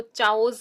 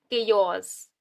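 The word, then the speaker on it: chaos: जिसको नहीं पता फर्स्ट टाइम इस वर्ड को रीड कर रहा है वो तो चाओस ही बोलेगा इसको। तो ये क्या है, केयोस।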